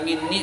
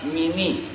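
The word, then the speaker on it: مني: maksudnya adalah dari aku, tetapi dia baca bukan minni tapi mini, bukan ani tapi ani. Nah itu namanya khaffafa meringankan. Kesimpulannya kita membaca minni atau ani, lalu ada orang terdahulu yang bacanya mini dan ani.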